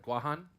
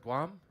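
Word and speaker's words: Guåhan: Marianas Islands so have you ever heard of guahan some nods yep if you haven't heard of guahan have you heard of Guam okay Guam is a mispronunciation of guajan right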